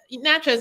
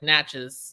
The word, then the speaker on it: Natchez: kind of a Mac nachos isn't like a small small town but it's um right I'm also saying it wrong it's like Natchez I'm I'm saying matches